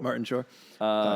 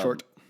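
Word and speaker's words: Martin Short: Martin Shore. Short, but um there you go. Mispronouncing names again. That one was an easy one, too. It's okay. Uh it was short. Uh short opposite of tall.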